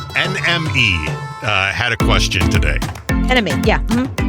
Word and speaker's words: NME: Enemy, yeah. Mm-hmm. Enemy.